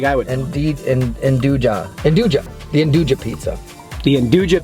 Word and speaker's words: nduja: Nduja.